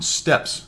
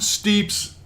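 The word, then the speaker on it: Steppes: That is how you pronounce it, I'm pretty sure. Fix me if I'm wrong. I know it's not the way you pronounce it. That goes back a long time. Some of the older subscribers may remember that. It was actually a platoon mate of mine. He actually thought it was called Steeps.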